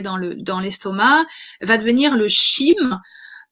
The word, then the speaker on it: chyme: Donc, ce qu'on a le bol alimentaire quand il est arrivé dans l'estomac va devenir le chyme. Je prononce ça, C-A-M-E.